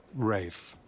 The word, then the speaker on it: Ralph: Ralph Bleeker. It's pronounced Rafe.